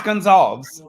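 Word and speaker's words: Gonsalves: have to be in television before people can pronounce his last name well it's gonzalves yeah right but I every time I say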